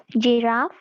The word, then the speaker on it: giraffe: of you have said that is a soft G. So let's see if it's a soft G or hard G. Giraffe. What does the G sound here say? Soft G. What? The sound? J.